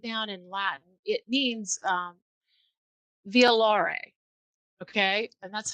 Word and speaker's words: violare: So when you break it down in Latin, it means violare, okay, and that's how you pronounce it.